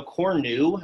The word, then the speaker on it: cornu: Horn is neuter, so cornu, as you can see there, cornu with a long U in the nominative, that unfortunately could be subject, indirect object, direct object, or ablative.